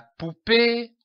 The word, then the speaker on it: poupée: La poupée a une belle robe. Remarquez l'accent sur le E. C'est un accent aigu. Il se prononce E.